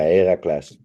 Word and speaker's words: Heracles: Feyenoord seemed to be quite a good price for Accas and doubles, but their way it's how do you say Heracles? Heracles? Yeah, Heracles.